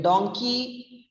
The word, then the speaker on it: donkey: and it's a donkey but in donkey donkey rhymes with monkey monkey it's a it's